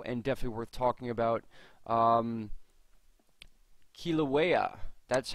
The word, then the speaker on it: Kilauea: Kilauea. That's how you pronounce it, I believe.